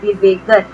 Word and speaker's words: Divegar: Near Divegar in Konkan. Now you must remember to pronounce this correctly. It is Divegar.